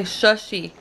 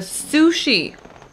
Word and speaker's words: sushi: I always want to say shushy, but sushi.